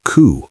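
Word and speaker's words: 九: The number 9 is also considered unlucky because its pronunciation resembles ku, a word associated with suffering.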